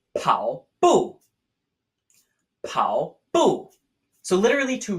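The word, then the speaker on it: 跑步: Our first word for today is the word for jogging or running, pronounced pao bu.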